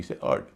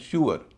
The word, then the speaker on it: sewer: जैसे SEWER, इसे हम सीवर कहते हैं, नियम से इसका उच्चारण होता है श्यूअर, लेकिन श्यूअर नहीं होता, इसका उच्चारण होता है सुअर, सुअर।